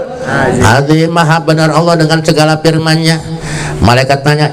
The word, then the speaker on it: Allah: Ayahnya dapat dari gurunya, terus nyambung kepada Rasulullah, bacanya Allah, Allah, Allah. Bukan Allahu, Allahu, bukan Allah, Allah, Allah.